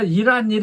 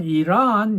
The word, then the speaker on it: 이란: 그 이란 무역업자가요, 제가 이란 그러니까 이 사람은 그렇게 발음하면 안 된다 그러더라고요. 그냥 이란 이런 식으로 말을 하라고 해요. 액센트가 좀 뒤로 가는 것을 들을 수 있었습니다.